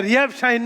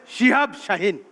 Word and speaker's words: শিহাব শাহিন: না বলেই উচ্চারণের সমস্যা এটা রিহাব শাহিন না এটা হবে শিহাব শাহিন আমি রিহাব শাহিনী ওই